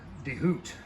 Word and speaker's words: DeHoot: that's how it's spelled, DeHoot. Like hoot owl, like you got on the fucking thing right there.